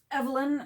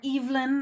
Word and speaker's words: Evelyn: rated my crab treat evelyn or evelyn i hear it pronounced both ways so i sent i